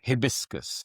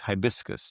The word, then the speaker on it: hibiscus: a flower, and he kept referring to hibiscus. And I put my hand up in the class and I said, sir, I think it's pronounced hibiscus.